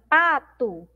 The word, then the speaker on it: pato: mais uma vez só a palavrinha pato nós pronunciamos como se tivesse um aqui no final mas nós temos uma letra o' e outra palavrinha aí